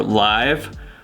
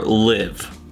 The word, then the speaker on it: Live: issue with that is if you're an English speaker you can pronounce this word as either live or live so that means that